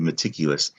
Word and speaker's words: meticulous: end and speaking of meticulous this o you don't hear the o in meticulous right might make you want to spell it with just an us but there is an o so we need to